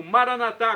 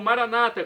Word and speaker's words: Maranata: dialeto de Jesus Cristo, eu clamo Maranatá, como dizemos nós católicos, ou Maranata, como dizem nossos irmãos separados, os evangélicos ou protestantes. Não importa a pronúncia, o significado é o mesmo.